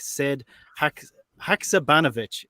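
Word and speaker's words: Sead Haksabanović: Sead Haksabanovic is how we're pronouncing it from now.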